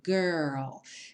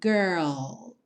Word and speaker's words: girl: letra de cada vez primeiro o r que é sempre enrolado Girl pensa no R de porta perna com a língua bem enrolada e depois você finaliza com o l l mesmo com a língua lá no céu da boca então girl girl talking